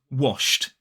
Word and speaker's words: washed: Now let's look at wash. Wash ends with the sh, sh, sh. No vibration, so wash becomes washed.